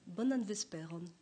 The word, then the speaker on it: bonan vesperon: Bonan vesperon. D'accord. Oui, ça sonne un peu latin, ceci dit. Oui, parce que l'accent tonique tombe sur l'avant-dernière syllabe de manière systématique.